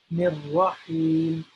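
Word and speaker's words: الرحيم: So Bismillah, Rahma, and then Rahim, Rahim, Ha, Ha, Rahim, Ha, Rahim. So this H here also needs to be pronounced in a special way by saying it from our throat as Ha.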